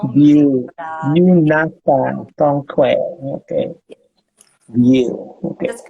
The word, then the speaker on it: Nuttha Thongkaew: How do you pronounce it? my full name is Nuttha Thongkaew, but Bew is nickname like Bew Bew Bew.